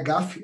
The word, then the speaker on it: GAFI: pelo grupo de acção financeira internacional não é garf garf assim que pronuncia de desgaste as quiserem pronunciar FF também